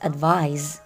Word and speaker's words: advise: On the other hand, advise with S and pronounced as advise is a verb, meaning the act of giving a recommendation, suggestion, or opinion about what someone should do.